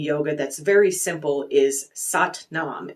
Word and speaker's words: Sat Nam: like from Kundalini Yoga that's very simple is sat Nam it's sat a t n m it's pronounced sat Nam and essentially it means truth and identity it's